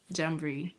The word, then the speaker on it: Jamboree: amazing thank you so tell us about Elite jambre am I pronouncing it right now bnny you started again right yes the elites jambur that's correct so what this event is all